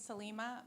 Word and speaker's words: Salimah: My name is Salimah, rhymes with Selena with an M.